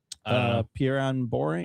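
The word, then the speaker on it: Perianne Boring: I always pronounce it incorrectly. Pieran Boring. Oh yeah, Perry and Boring.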